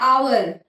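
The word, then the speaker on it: hour: हमारा साइलेंट हो, जैसे आवर. आवर की स्पेलिंग होती है एच ओ यू आर, लेकिन उसमें एच साइलेंट होता है.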